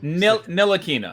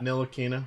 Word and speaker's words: Ntilikina: Ntilikina. Ntilikina.